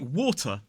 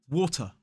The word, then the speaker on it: water: I pronounce the there, but in a word like water, as an isolated word, we don't pronounce the R at the end. Now, if it comes in a sentence followed by a vowel sound, we do. But as an isolated word, we say water, water, ending in a schwa sound.